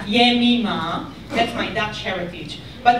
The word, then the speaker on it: Yemima: all of you, you don't know how to pronounce my name, and instead of calling me Yemima, you all call me Yemina, which unfortunately means in Hebrew, taking a right-hand turn.